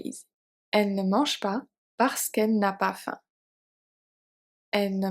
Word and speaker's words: parce qu'elle: So we remove the E at the end because L starts with an E, so we can't have two E. It does not work. One has to go. So parce qu'elle n'a pas faim. We remove one, so the other one is good. It's simply in French because if we say parce que elle, it's not a good flow of pronunciation, so we have to remove one.